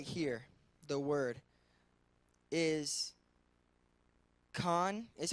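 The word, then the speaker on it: חן: so it says right here the word is con is how you pronounce it in the Hebrew and it is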